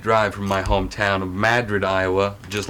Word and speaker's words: Madrid: is about 20-minute drive from my hometown of Madrid, Iowa, just like Madrid, Spain, but pronounced Madrid because we're in America.